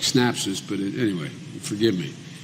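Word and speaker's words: Synapse: Health System and snaps I think I'm pronouncing it right s y n a PS e it sounds like snaps this but anyway forgive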